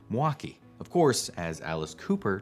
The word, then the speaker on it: Milwaukee: wisconsin if you said milwaukee you might not fit in with the locals the more common pronunciation drops the l sound and might even smush the name into two syllables more like milwaukee of course as alice